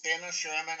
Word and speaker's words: Denner / Shermann: Yeah, that you know to me like it's you know it's Denner Sherman.